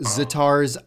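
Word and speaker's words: Ztar: Yes, Jamboree confirmed that they're pronounced zitars.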